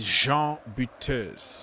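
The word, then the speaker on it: Jean Butez: So the real way to pronounce it is Jean Buteus.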